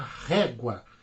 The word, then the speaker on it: régua: A régua, eu tenho ela é uma paroxítona, é a penúltima sílaba, é a mais forte.